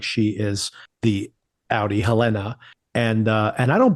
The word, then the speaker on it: Helena: true I'm fascinated by your pronunciation of Helena by putting the emphasis on the second syllable did I say Helena